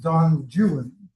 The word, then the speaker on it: Don Juan: called Don Don Juan, which he pronounced Don Juan because he was an arrogant Englishman who didn't care about pronunciation.